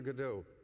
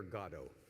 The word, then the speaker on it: Godot: pronounced it waiting for godot that's the way we americans tend to think of it waiting for godot brits and irish people almost exclusively think of it as waiting for god oh or god and we